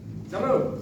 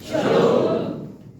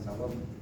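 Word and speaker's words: שלום: Kalau orang Kristen katakan shalom, jangan malu-malu. Ya. Banyak masih Protestan masih sedang mengucapkan kata shalom. Shalom itu pengucapan yang benar adalah shalom, bukan shalom. Karena menggunakan vowel wow, vokal panjang pada o-nya.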